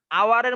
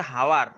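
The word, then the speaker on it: hour: এইটা হর্স, এটা হচ্ছে হাওয়ার, এমন বলিনি আমরা? না স্যার, এটা আওয়ার। তাইলে তুমি এইটা বুঝো যে এইচ এর উচ্চারণ ইংরেজরা তাইলে দুই ভাবে করতেছে। এক হচ্ছে এইচ এর উচ্চারণ হ, আর একটা হচ্ছে এইচ এর উচ্চারণ অ হচ্ছে। বিষয়টা কি বুঝছো? জি স্যার। তার মানে প্রথম যে হর্স, এখানে এইচটা কিসের উচ্চারণ দিচ্ছে? হয়ের। পরের এইচটা কি এর উচ্চারণ দিচ্ছে? আ। হ্যাঁ, আওয়ার, আ দিচ্ছে।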